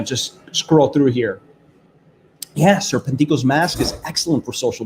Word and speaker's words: Serpentico: I say Serpentico because, I'm the Spanish commentator, and that's, we talk. So that's the correct way to pronounce his name in Spanish. Serpentico.